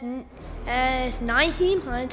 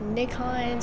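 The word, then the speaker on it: Nyheim Hines: As Naheem Hines, I've been saying it wrong. I've been saying like Nick Hines or, I don't know.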